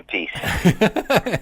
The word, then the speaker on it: Appice: He calls himself Carmine Appice. Isn't that crazy? One brother calls it one thing, and one brother pronounces it another.